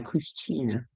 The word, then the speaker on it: Kushina: It's spelled like China, Kushina.